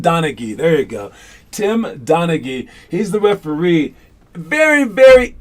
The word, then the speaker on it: Donaghy: gone tim tim donaghy there you go tim donaghy he's the referee very very infamous referee timothy